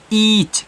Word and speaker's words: each: तो इसको आप ई एच नहीं पढ़ोगे, इसको पढ़ोगे ईच।